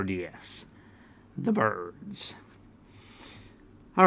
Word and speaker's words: Byrds: over the song Turn Turn turn by the birds all right so who are the birds okay